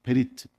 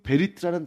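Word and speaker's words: בְּרִית: 그래서 여러분 히브리어로 언약하면 그 발음이 뭐냐면 베리트입니다. 베리트. 그 베리트라는 단어의 어원은 뭐냐면 쪼개다예요.이 아브라함과 하나님 사이에 이루어진이 언약식을 통해서 언약이라는 단어가 확정이 되는 겁니다.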